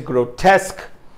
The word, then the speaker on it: grotesque: the word for today is grotesque with the second syllable being uh being stressed here so best of luck